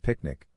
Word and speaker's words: PQNK: PQNK Peter Kratini Zam Kashadakiari pronounced picnic represents a paradigm shift